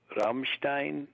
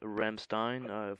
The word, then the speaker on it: Rammstein: Is it pronounced Rammstein? Rammstein, that yeah, band.